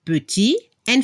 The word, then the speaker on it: petite: Para la pronunciación, la última consonante se debe escuchar al femenino. Al masculino, il est petit. En femenino, elle est petite. Se escucha la T al final.